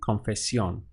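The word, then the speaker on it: confesión: this category for example confession would go to confession so simply had an accent over the O and I I kind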